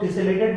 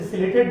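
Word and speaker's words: ciliated: तो बहुत लोग टिसेलेटेड बोलते हैं, सिलेटेड, ऐसे सिलेटेड बोलना सही रहेगा, टी साइलेंट रहता है, ठीक है।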